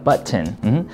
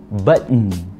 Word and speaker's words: button: 물론 T 발음 할 수 있어요, button. 근데 이 button, T 발음이 약화가 돼서 button, button 이렇게 콧소리 낼 수 있다, button. 둘 다 가능해요.